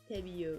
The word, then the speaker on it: Pebeo: So I use, it's spelled P-E-B-E-O, and I always forget the actual pronunciation. Pebeo? Pebeo. Yeah, it's Pebeo.